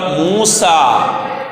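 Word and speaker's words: موسى: 1-ാമത്തെ പദം മൂസ. മൂസ എന്ന് പറയുമ്പോൾ ഉച്ചാരണത്തിൽ അലിഫാണ് വരുന്നത്. എഴുത്തിൽ അവിടെ ചുവന്ന അക്ഷരത്തിൽ യാ കാണിച്ചിട്ടുണ്ട്.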